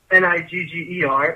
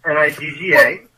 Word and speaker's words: nigga: I'm saying in hip hop, you use the N word, and it's not Nigger, it's Nigga.